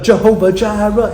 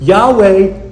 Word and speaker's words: Yahweh: Well, the Jehovah Gyra, it sings so good because of the J J. It sings so good. But that's not his name. It's Yahweh Y.